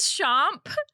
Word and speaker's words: Chomp: It is Chomp with a P at the end, as in like the French pronunciation of the word champ.